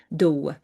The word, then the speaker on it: Dow: The Dow is the name of their space species, Dow, D O W, pronunciation. So, the Nebu were a